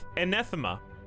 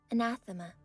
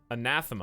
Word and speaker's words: anathema: a typical planetary environment is an anethema how do you say that word anathema anathema i was pretty cl i was pretty close i would say it was 90 accurate anathema um anyways they